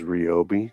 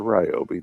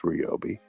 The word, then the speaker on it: Ryobi: A lot of it is Robi, not Ryobi. There's a difference. It's pronounced Robi.